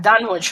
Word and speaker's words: Dunwich: You don't pronounce the W then?